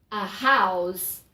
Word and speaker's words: house: Agora, se eu quero falar uma casa, a palavra casa, o H é pronunciado. Então, a house.